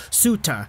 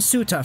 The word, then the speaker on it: Suter: the broadcasts, it's Pius Suter, kind of with an A instead of an R sound at the end. So we're gonna call him Suter for this video.